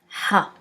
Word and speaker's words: ح: Ha. Ha pronounce almost like a deep H, but try to get the air from the back of your throat.